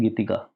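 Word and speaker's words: Gitega: बी ए आर बुजरा एक और capital है जिसे हम कहते हैं गीतिका जी आई टी ई जी ए गीतिका ठीक है अब आओ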